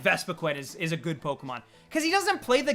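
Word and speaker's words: Pokémon: little bit riled up in latin america it's polka pokemon with a strong syllable being mon so i'm just saying pokemon so like so like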